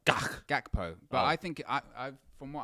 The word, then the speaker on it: Gakpo: But I did see someone in the comments saying it's actually not a soft G, it's a hard G. So I don't know. But so if it's hard, it's like Gakpo.